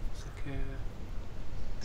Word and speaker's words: sakura: Sakura. Wow. Sakura, that's how we pronounce it.